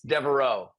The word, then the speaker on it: Deveraux: how you say it hey man it throws you curveballs with that X it's Deo Deo we got Tyler a